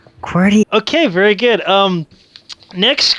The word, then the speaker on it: Cordy: I will say it my name name is pronounced quty okay very good um